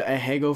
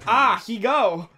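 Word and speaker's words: ahegao: works works so you know things like the ahago face uh-huh it's actually pronounced a different thing it's like a a hego like a fine adhesive no it's like weird it's like really ah he go sorry oh it means it means like coming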